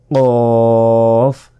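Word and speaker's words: قاف: ঠোটে কামড় দিতে হবে ফা ফা ফা এরপর কফ কফ একটা গলার ভিতর থেকে একটা আওয়াজ আসবে কফ যেবার গোড়া তার বরাবর উপরের তালুর সাথে লাগিয়ে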